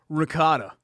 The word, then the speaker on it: ricotta: Ricotta. Okay. Spinach in there, Yeah, right? but I say it like authentic, like ricotta.